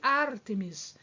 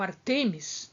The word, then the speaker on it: Ártemis: Antíoco morre, ele vai morrer e ele faz uma expedição contra um santuário de Ártemis, ou Artemis, dependendo de como se fala, né?